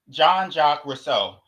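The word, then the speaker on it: Jean-Jacques Rousseau: Um, so Rousseau, again, it's supposed to be John Jacques Rousseau, but I keep getting it mixed up. I keep because the way it's spelled it doesn't look like Rousseau.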